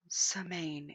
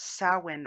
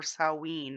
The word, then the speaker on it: Samhain: which they call semaine it is not samane it's samhain or salween or seven depending on which area of the uk you're in wiccan rights include invoking